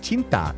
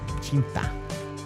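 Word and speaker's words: cinta: Oh, so it's pronounced chinta. It literally means love. Oh, okay. Thank you. Chinta.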